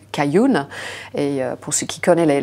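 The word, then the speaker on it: 开云: ou King en chinois va se prononcer cayun donc notre marque au nom en Chine s'appelle kering kayun et pour ceux qui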